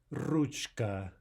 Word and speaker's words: ручка: Okay, two problems, the English R and the U off glide in the vowel. This should be pronounced Ruchka.